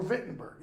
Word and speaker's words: Wittenberg: Horatio is a student at Wittenberg, the University of Wittenberg, or Wittenberg, as it should be pronounced, as Hamlet also is.